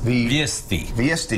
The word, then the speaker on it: Viest: And am I pronouncing the name of the restaurant correctly? Yes. Viest, right there.